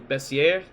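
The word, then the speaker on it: Bessieres: how is it spelled it's spelled in a French manner uh it's b-e-s-s-i-e-r-e-s so and I looked it up I actually Googled how to pronounce it correctly and it is bessier yep uh as to how it's pronounced but uh I'm not French I'm still gonna it up it's actually a slight Z on the double s that's entirely possible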